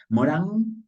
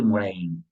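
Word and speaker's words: Edgar Morin: Morán Edgar Morán moren Morín se escribe con i Morán se eh dice en español pero en francés donde es él se dice morin Así que como ustedes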